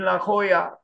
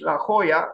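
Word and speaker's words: La Jolla: like Mary cter in La Hoya California is an American architect based in Los Angeles California I don't know if I pronounce well I try to pronounce it in Spanish La Hoya La Hoya it's also the the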